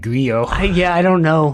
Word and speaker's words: Grillo: number of things like it's actually pronounced Frank griot yeah I don't know